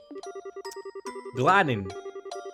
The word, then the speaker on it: gladden: Gladden. Gladden. Learn to pronounce verb past tense. Gladden. Past participle gladden. Make glad. It would sound like glad.